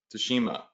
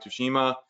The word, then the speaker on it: Tsushima: So Ghost of Tsushima, okay, click on that.